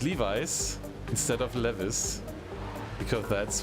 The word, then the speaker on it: Levi's: did you know that in germany we were the clothes manufacturer we said levis and not levi's and i think it's called levi's is that correct and not leves we sent levis to